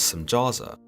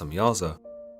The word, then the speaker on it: Samjaza: The leader of these angels, known as Samjaza, sometimes pronounced Samyaza, tells the Watchers that